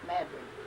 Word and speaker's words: New Madrid: It's spelled just like Madrid, but they call it Madrid, New Madrid, Missouri.